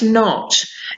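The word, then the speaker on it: knot: watch ah watch and the other one is not it's not cannot it's the same as not not you do not pronounce the K so you P we've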